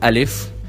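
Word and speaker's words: ا: It's called alif, but the sound of it is a, like a normal a in English.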